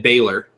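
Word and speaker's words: Finn Bálor: week which was uh Finn Balor was sorry Finn Baylor was talking was talking to Kurt Angle backstage Kurt Angle mispronounced fin is Finn baile Kurt Angle so yeah so um basically Finn Balor said hey you know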